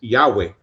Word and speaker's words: Yahweh: y h w eh que los teólogos piensan de que la mejor manera de pronunciarlo es Yahweh.